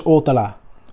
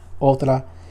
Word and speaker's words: Othala: This one is Othala, or Othala, depending on how you pronounce it. Othala is how I pronounce it.